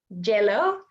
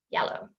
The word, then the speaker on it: yellow: So these ones are incorrect, would be jeers, yes, jello. We don't want to do that. We want to say years, yes, yellow.